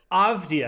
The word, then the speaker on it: Avdija: But it's actually he also, just don't look at it, just hear it. Avdia. Yeah. Great. I can say just Avdia. don't read it. That's what's going to throw us off.